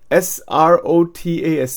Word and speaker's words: srotas: They disturb the manovaha strot. S-R-O-T-A-S.